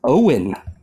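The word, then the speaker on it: Eoghan: gonna I'm just gonna butcher it eogen uh it's Owen that's how they spell Owen dude hey Ireland um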